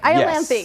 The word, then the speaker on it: Iolanthe: So this one has a name that I'm going to try to pronounce. Iolanthe. Did I do well? You got it right. Iolanthe.